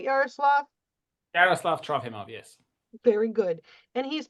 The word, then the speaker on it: Yaroslav Trofimov: Yaroslav Trofimov, yes.